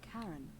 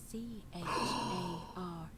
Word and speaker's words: Charon: pronunciation is a little off. The name you heard wasn't Karen. Ah. It was C-H-A-R-O-N.